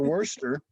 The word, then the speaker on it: Worcester: So when I first went to Worcester, Worcester.